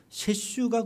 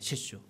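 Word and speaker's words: 雪舟: 셰슈. 저희는 그게 누가 그렸는지 몰랐어요. 거기 설주라고 이렇게 한말로 한문으로 써 있는데도 한 번도 누군지 생각할 찾아볼 생각도 안 했죠. 설주라고 써 있는 것이 일본말로 할 때는 세슈라고 읽더라고요.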